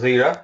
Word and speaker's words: Jira: So is it pronounced Zira or Jira? no, we in the UK we call it as Zira.